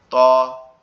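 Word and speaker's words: ت: এটা আমাদের জিহ্বার আগা সামনের উপরের দুই দাঁতের আগার সঙ্গে লাগবে। সামনের আগা জিহ্বার আগা সামনের উপরের দুই দাঁতের আগার সঙ্গে লাগবে। লেগে উচ্চারিত হবে ত এরকম ভাবে।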